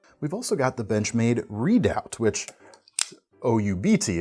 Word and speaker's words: Redoubt: We've also got the Benchmade Redoubt, which O-U-B-T, it's spelled slightly different, and it's not quite as